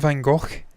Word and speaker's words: van Gogh: The Dutch are like us Scots. They pronounce certain words like that's how they say it. And no, I wasn't gargling there. That's how they pronounce it.